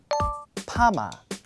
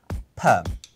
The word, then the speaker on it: perm: Perm. Perma. Perm. I think perma is more like Japanese-style pronunciation, right? But in British English, perm comes from the word permanent. Okay. So we use the same pronunciation, perm.